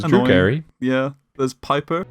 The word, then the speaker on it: Piper: There's Piper, Rhymes with viper.